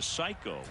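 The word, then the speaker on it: saiko: the answer was Psycho which is pronounced psycho but it it's actually spelled in Japanese s a i KO Randy said later I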